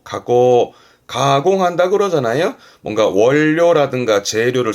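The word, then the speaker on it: 加工: 가공 발음은 가고 조심하세요. 가고 가고 가공한다 그러잖아요.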